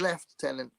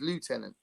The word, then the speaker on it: lieutenant: Uh lieutenant pronounced left tenant versus lieutenant.